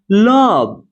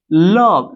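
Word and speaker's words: love: लव। अब देखिए यहां पर भी ओ को क्या पढ़ा जा रहा है? अ पढ़ा जा रहा है। इसे पढ़ेंगे। लव।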